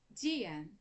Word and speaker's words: Diane: Dian. O nome dela se pronuncia Dian.